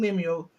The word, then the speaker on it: Lemuel: That's how you Yeah, pronounce Lemuel.